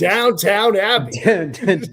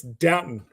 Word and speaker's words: Downton: It's Downton. Downton. It's is not that how downtown. they say downtown? Or like, is this some kind of weird British way of saying? There's no second W.